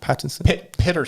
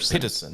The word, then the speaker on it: Peterson: Or Pattinson? Peterson. That was that's how you pronounce it.